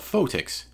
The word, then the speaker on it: Photics: Photics …which sounds a lot like Physics. Photics means the science of light, especially in areas of water that are affected by sunlight. But here... it's technical. Photics TV is about all